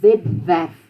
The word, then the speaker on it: webwerf: W is pronounced V. Except if it comes after an S or a T, something like that, then it would be tw or sw. But if it's the beginning of the word or the beginning of the syllable, It's a v.